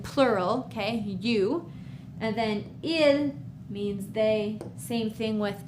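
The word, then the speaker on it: ils: Yes, I know that there's an s after il, but we still just say ill.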